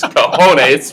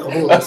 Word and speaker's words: cojones: It's cojones, but Well, in the hood, it's called kahunas.